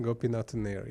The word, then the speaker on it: Gopinathannair: Gopinathannair. Yep. Is that right? Gopinathannair, yeah. Ah, very good. I was close. I didn't have the emphasis on the last syllable.